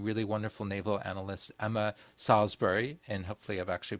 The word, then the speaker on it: Salisbury: wonderful Naval analyst Emma Salsbury and hopefully I've actually pronounced the name correctly as she said it's Salsbury like the steak uh but which is